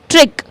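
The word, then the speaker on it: trick: सबसे पहला एग्जांपल है हमारे सामने ट्रिक। ट्रिक। तो देखिए सी और के साथ में है और सी को ऐसा लग रहा है हम प्रोनाउंस ही नहीं कर रहे हैं।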